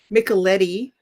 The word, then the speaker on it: Micheletti: It sort of rhymes with Nickelodeon. Micheletti ends in Eddie, so one little kid called me Mrs.